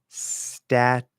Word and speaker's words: statute: Statute. That second T is not even a T sound.